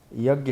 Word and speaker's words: यज्ञ: यज्ञ है यज्ञ, प्रभुपाद जी ने अंग्रेजी में यज्ञ को अंत में यन लगा दिया है, तो फोनेटिक्स में ऐसा होता है, लेकिन वह उच्चारण करने योग्य नहीं होता है, समझे, साइलेंट है उसमें।